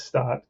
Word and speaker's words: Stopp: name the whole time wanting to call him sto stop and I can never it is stopped because it rhymes with stop so anyway let's get